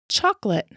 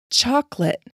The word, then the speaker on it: chocolate: Chocolate. Chocolate. Chocolate. Chocolate. This O is silent.